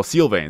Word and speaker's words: Sylvain: so his name is Sylvane Sylvane no sylvain sorry I keep keep mispronouncing name his name is Sylvain he was able to